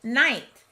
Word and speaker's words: knight: the most sense there it has to be night k-n-i-g-h-t the next blank must be referring to